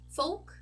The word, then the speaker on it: folk: So if you have an O and an L followed by a K, you can definitely pronounce just like you would pronounce it in Portuguese.